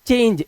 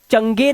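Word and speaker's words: change: इसी तरह से CHAN, और उसके बाद जी के बाद ई लगा हुआ है, और इसको हमने पढ़ा चेंज, इसे चंगे नहीं पढ़ा है, हम पढ़ रहे हैं चेंज।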